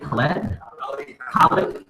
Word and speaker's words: Khaled: How do you pronounce his name? DJ Khaled. DJ Khaled, right?